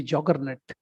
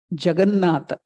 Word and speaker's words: Jagannatha: English word, if you can Google, you can see juggernaut. That English term has come from Jagannatha. The British couldn't pronounce Jagannatha, so they made it juggernaut.